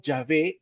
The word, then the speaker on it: Yahvé: Perpetuo es tu nombre nosotros estamos mencionando yahvé en vez de Jehová porque yah es la pronunciación más exacta al original hebreo la palabra Jehová es